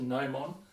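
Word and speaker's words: gnomon: shapes are called a nomon you don't pronounce the g it's not not the known one it's just a gnome on it's the same name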